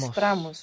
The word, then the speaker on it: mostramos: Mostramos. Very good. Mostramos. You're not accenting anymore that O, so it doesn't mostramos. split. Mostramos.